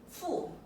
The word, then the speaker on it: 父: Now these 3 principles actually concerns about 父. That's the 4th tone.